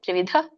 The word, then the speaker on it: ತ್ರಿವಿಧ: ಇದೆ ಹಗೆತ ಕೆ ಕರ್ತೇತಿ ತ್ರಿವಿಧ ತ್ರಿವಿಧ ಧ ದೊಡ್ಡದು ಮಹಾಪ್ರಾಣ ಇದೆ ತ್ರಿವಿಧ ಕರ್ಮ ಸಂಗ್ರಹ ಇದರ ಒಂದು